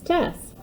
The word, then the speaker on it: Tess: my name is miss tess i want you to call me miss tess when i think about my name it rhymes with mess sometimes i like to